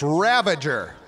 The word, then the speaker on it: Ravager: It's Ravager. Not you. I'm just reminding myself how to say it right.